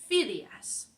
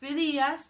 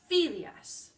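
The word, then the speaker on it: Fidias: So if it does end in N, S, or vocal, then we put the stress on the penultimate, the second to last syllable, like Phidias. Not Phidias, not Phidias, Phidias.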